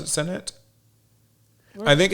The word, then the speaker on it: Zenet: I mean they call it zenet, but do you pronounce it senet? I think it's zenet.